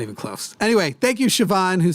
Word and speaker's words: Siobhan: there not a but you say a V and you're like where the there's not an H this way there's not